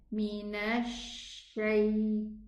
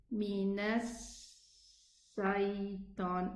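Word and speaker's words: مِنَ الشَّيْطَانِ: So it somehow gets the sound of the seen with it while pronouncing the letter sheen. So instead of saying Minash Shaytan, it will sound like this. Minash Shaytan.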